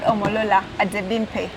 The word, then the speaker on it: Omolola Adebimpe: She's called Omolola Adebimpe. Am I pronouncing your name well?